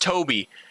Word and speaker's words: Tobby: But here, this little dog right here, that is Tobby. I guess it's technically pronounced Toby.